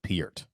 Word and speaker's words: Neil Peart: 70s and 80s oh is that how you pronounce his name i was saying pert is it piert it's peered actually yeah how do you spell that p-e-a-r-t he actually pronounces it piert i actually heard him say it on a